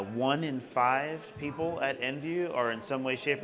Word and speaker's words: Envu: a note on the name EnV viw is pronounced EnV viw and it's meant to signify that we are